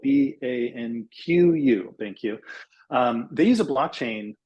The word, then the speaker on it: BanQu: doing some really interesting stuff, and it's called BanQ, which is spelled BANQU, BanQ.